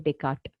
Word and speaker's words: Descartes: You can see the spelling as DES, but the pronunciation will be Rene Descartes.